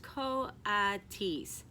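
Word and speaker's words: coatis: raccoony dogs these are Cody's mrs. Brisbane said reading from the letter pronounced Co odd T's the Cody's looked weird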